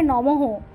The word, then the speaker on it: নমঃ: মন্ত্র এস চন্দন পুষ্পাঞ্জলি ওম শ্রী লক্ষ্মী দৈব নমঃ শ্রী উচ্চারণ হবে শ্রেয়ং নমঃ উচ্চারণ হবে নমহ পুষ্পাঞ্জলি এক তিন বা